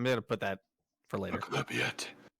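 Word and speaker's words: Maglubiyet: Maglubiet. Maglubiet? Is it Maglubiet? Is that? I guess Yeah. that sounds guttural. All right, cool. All right, I'm gonna put that for later. Maglubiet. Maglubiet.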